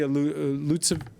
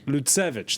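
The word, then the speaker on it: Lutsevych: Well, pleased to welcome, she's normally in London, Auricia Lutsev. How do I pronounce it? Lutsevich, there we go.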